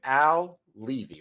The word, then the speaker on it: Al Levi: I'm your host, Corey Barrier, and I am here with my man, Al Levy. What's up, Al? Hey, I'm here. And you didn't even ask, and you pronounced my name right.